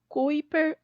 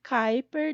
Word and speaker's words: Kuiper: E eu chamo também de cinturão de Kuiper ou Kuiper, dependendo de como você prefere pronunciar.